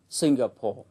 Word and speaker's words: Singapore: tính từ ví dụ danh từ Singapore trọng âm rơi vào âm tiết thứ nhất Singapore còn tính từ singaporean